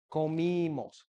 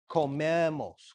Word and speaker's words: comimos: Comió, comimos, comimos, all right? There's no exclamation point, but you have to be clear that the I is pronounced. Comimos, comimos, not comemos.